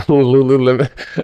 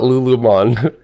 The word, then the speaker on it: Lululemon: Yeah, I was waiting on Lululemon. Dude, I used to call it Lulumon.